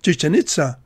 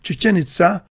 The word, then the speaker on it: Chichén Itzá: Some people pronounce the name as Chichen Itza, but the Spanish pronunciation Chichen Itza, with the stress on the final syllables, is more consistent with the Mayan pronunciation.